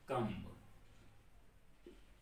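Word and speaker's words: comb: अगर उसी तरह कम्ब, तो कॉम पढ़ते हैं, यहां पे बी साइलेंट हो गया, ठीक है।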